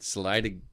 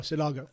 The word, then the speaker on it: Sinaloa: When you have I can't pronounce the word right, Salida cartel from Mexico. Oh, Sinaloa.